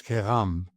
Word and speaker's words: Kaigham: It's Kaigham. So the G and the H are like the R in Paris in the way a Frenchman would say it, right?